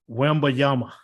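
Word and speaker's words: Wembanyama: Have you figured out how to pronounce his last name yet? Wembayama.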